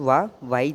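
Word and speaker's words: は: This इस्तेमाल कर सकते हो। ठीक हो गया? तो बेसिक स्टेटमेंट सेंटेंस यह है कि एक्स वाई दिस। और आपने इसको हां बिल्कुल प्रोनाउंस नहीं करना। यह है वा।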